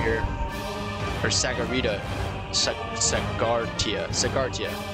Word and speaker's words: Sagartia: prada back from uh sagittarius here or sagarita tia sagartia sorry i've been mispronouncing that this whole time embarrassing all